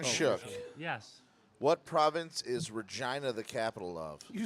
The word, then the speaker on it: Regina: I will Is fucking Regina dominate."